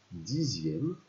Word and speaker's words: dixième: Donc, 12 dixièmes. Ah, attention, dixième. On entend le son Z, mais ça s'écrit avec un X.